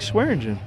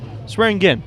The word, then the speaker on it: Swearingen: It looked like Swearingen. Huh? Swearingen. Swearingen. Swearingen. Yep. He's Like the swearing drink. at his gin.